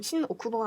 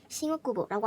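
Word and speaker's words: 新大久保: 그러면은 발음을 할 때도 신오쿠보가 아니라 이런 식으로 싱오쿠보라고 하면은 더 자연스러운 일본인스러운 발음이 된다라는 게 첫 꿀팁이고요.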